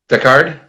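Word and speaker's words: Decherd: There was also a quote from the CEO, Robert, and I don't know how to pronounce his last name, Yeah, so Deckard, Deckard.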